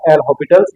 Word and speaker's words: L'Hôpital: भी लिखा जाता है सही प्रोनंसिएशन है बेटा एल हॉस्पिटल्स यहां एस साइलेंट होता है इसके बाद में